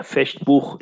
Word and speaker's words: Fechtbuch: Yeah, Fechtbuch in German, of course, we pronounce it this way.